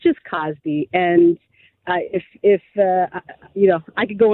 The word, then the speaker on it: Cosby: On Cosby, not Cosby.